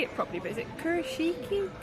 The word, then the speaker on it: Kurashiki: We landed in Tokyo, and we're going to, I don't know how to say it properly, but is it Kurashiki? Kurashiki.